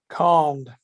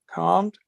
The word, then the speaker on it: calmed: Do you think you pronounce the L or you don't pronounce the L? Calmed. A little bit. Calmed. Yeah, because you realize that some people don't pronounce that L at all.